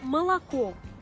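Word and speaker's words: молоко: Comme c'était l'exemple dans le mot malako. Malako. La dernière voyelle O qui a été accentuée, elle a gardé son apparence, elle est restée O. Tandis que les deux autres voyelles O qui n'ont pas été frappées par l'accent tonique sont devenues A.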